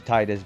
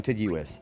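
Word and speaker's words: Tidus: I choose how to pronounce Titus based on what I think is fighting at the moment. I'm going to call him Hang on Tiduis. I'm going to call him Tiduis. I think that's actually more appropriate, too.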